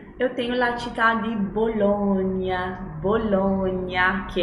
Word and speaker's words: Bologna: Você viu ali que é com GNA, ou seja, sempre que eu tiver as consoantes, o sonzinho ali GNA, eu vou ter a sílaba GNA, eu vou ter o som nha, nha. Como Bologna, lasagna.